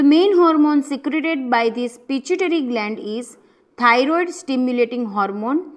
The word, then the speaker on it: pituitary: Remember its pronunciation, it is pituitary gland.